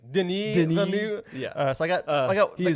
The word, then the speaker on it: Denis Villeneuve: I think I showed my lack of cultural relevance to you, and I called him Denis Villeneuve. I think it's Denis Villeneuve. Yeah. So I got the complicated French-Canadian name wrong.